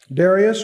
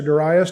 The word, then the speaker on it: Darius: 3 Persian kings: Cyrus, Darius, or Darius, depending on how you want to pronounce it, and Artaxerxes.